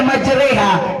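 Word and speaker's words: مجريها: Kenapa dibaca majreha? Padahal dia baris patah, baris atas. Kenapa dibaca re? Re ambaya, re. Hurufnya re.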